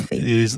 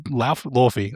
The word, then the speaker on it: Laufey: Lawfy. It is Lawfy.